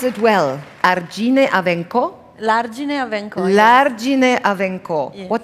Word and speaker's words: L'Argine a Vencò: did I pronounce it well? Argine a Vencò? L'Argine a Vencò.